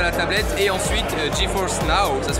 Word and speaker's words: GeForce Now: qui sont incrustés à la tablette et ensuite GeForce now ça se prononce ainsi les jeux vraiment PC qui sont